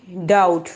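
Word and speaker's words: doubt: डी ओ यू बी टी डाउट, डाउट होता है शक, ठीक है। डाउट बी साइलेंट है यहाँ पे, डाउट।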